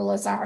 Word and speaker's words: Lazar: So, um, he begins nursing lepers in laser houses. So, or Lazar houses, you can pronounce it either way.